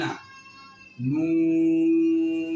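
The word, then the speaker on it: نون: এই হরফটির নামের শুদ্ধ উচ্চারণ করতে হলে জিহ্বার আগা তার বরাবর উপরের তালুর সঙ্গে লেগে দুই ঠোঁট গোল করে এই হরফটি উচ্চারণ শুরু ও শেষ হবে।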